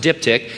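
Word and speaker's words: diptych: something called a dipti Di tych and it's pronounced diptic it's described as a pair of folding wax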